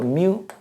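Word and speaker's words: μ: 그 다음에 이걸 뭐 문자로 쓰게 되면 뮤라고 씁니다. 이렇게 벡터 값이기 때문에 화살표 이렇게. 읽을 때는 뮤라고 읽어. 뮤 이렇게 읽어요.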